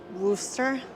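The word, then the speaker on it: Worcester: Norton yeah Norton so how do you say that Wooster so however I say it is wrong buddy Lance says that uh it's just like that kind of like rooster but this is the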